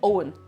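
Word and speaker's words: Eoin: It's Owen. Owen. Like O-W-E-N. It's the same pronunciation, it's just spelt in Irish.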